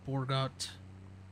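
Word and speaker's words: Bourgault: The Borgalt or Borgot. It's a French Canadian brand, right? Yeah, I mean the name's kind of a dead giveaway, but or Joel. Okay. The T is silent.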